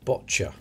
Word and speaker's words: boccia: another olympic it's olympic boccia that's how it's pronounced like gotcha but with a b two million one hundred